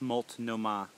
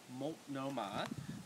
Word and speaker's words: Multnomah: I made a Multnomah, or is it, how do you pronounce it? I believe it's Multnomah. Multnomah.